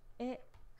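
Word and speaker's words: へ: Eh. So this here, eh, sometimes pronounced eh. Eh. When it's a used as a particle. Eh. When it's used as a particle, it's pronounced eh.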